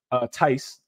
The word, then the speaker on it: Theis: So is Daniel Theis as well. Theis is how you pronounce it.